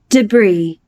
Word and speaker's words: debris: Demak, mana bu so'zni ikki xil talaffuz qilish mumkin. Amerikada deb deb talaffuz qilinadi. Buyuk Britaniyada esa debris deb talaffuz qilinadi. Debre debris deb. Ikkalasi ham bir xil bu yerda talaffuz qildi.